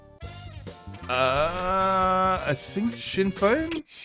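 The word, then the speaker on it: Sinn Féin: For example, how should the name of this Irish political party be pronounced faint or uh I think Shinfane. Shinfane is the correct pronunciation.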